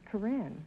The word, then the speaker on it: Corinne: Is that the way you pronounce it, Corinne? No, Groucho, it's Corinne.